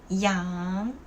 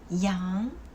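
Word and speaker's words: 羊: The sheep is yang. Well, without the G and with the G, the pronunciation change a lot.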